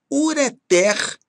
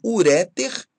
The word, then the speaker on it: ureter: refém refém ruim sutil ureter e não ureter ok com dor e